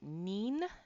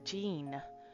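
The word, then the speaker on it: 人: And uh you pronounce it either by nin n i n or jean.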